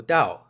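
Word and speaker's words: 道: So I'm not good at tones but um it's the the fourth tone anyway. So dao um anyway if you take a very very very basic interpretation of the term dao it means the leader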